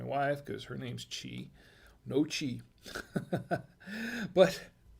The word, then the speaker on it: gnocchi: nashi or no she it's spelled g-n-o-c-c-h-i now uh she says yep looked it up so i'm guessing nochi yep looked it up so it's noche now see i was